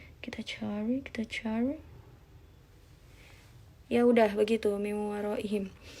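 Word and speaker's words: مِنْ وَرَائِهِمْ: Ini dibacanya adalah kita meleburkan nun mati sama wawunya kan, jadi kayak dilebur, nunnya tuh dilebur ke wawu jadi miu. Nah ini ada gunnahnya, gunnah itu berarti dua ketukan, miu waroihim gitu, bukan miwaro, bukan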